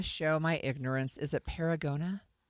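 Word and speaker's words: Paragonah: Is it Paragona?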